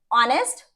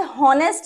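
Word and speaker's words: honest: नेक्स्ट, ऑनेस्ट, honour, आओ और year, ठीक है, तो ऑनेस्ट, आप इसे हॉनेस्ट नहीं बोलते, ऑनेस्ट बोलते हैं, है ना, तो एच इज साइलेंट हियर।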